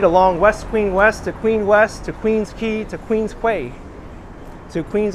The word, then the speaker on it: Queens Quay: It's not Queens Quay, it's Queens Quay.